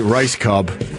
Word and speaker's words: Rajskub: So, how does R A J S K U B turn into Rice Cub?